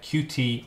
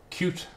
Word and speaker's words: Qt: and look at uh qt or cute whichever way you want to pronounce it and I'm going to